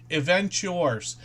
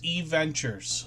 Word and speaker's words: E-Ventures: So Event Yours, I keep pronouncing that incorrectly, and it's E-Ventures, so I'm going to try to remember that.